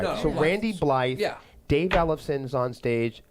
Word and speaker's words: Blythe: I've been a Blythe. metalhead. Blythe. Yeah. Okay, then I'm not So wrong. so You're not wrong. All right. No, So Blythe. Randy Blythe.